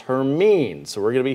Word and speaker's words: Hermine: we're recycling this name it's not hermione for all the people who read harry potter it is officially pronounced hermine so we're going to